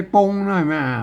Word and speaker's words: ป๋ง: หลัก ภาษา ล้านนา ไม่ ต้อง ธุระ อ่าน ว่า ป๋ง อ่า ตัว รอด อัน นี้ ต้น ไม้ อ่าน